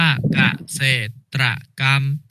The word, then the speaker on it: เกษตรกรรม: ๆ ครับ คำ ว่า เกษตรกรรม อ่าน ว่า เกษตรกรรม มา เกษตรกรรม นะ คะ อ่าน ว่า เกษตรกรรม คำ